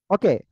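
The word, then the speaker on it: ث: করতে হবে ঠিক আছে হালকা বাতাস দেখেন নিয়ে মুখে হাত দেন সাটু উচ্চারণটা আপনার যখন করতেছেন তখন আপনার মুখ দিয়ে বাতাস বের হচ্ছে কিনা এটা খেয়াল করতে হবে সা আপনারা হয়তো আওয়াজটাও শুনতেছেন যে এখানে বাতাসের আওয়াজ যাচ্ছে মাইক্রোফোনে সা অনেকে হয়তো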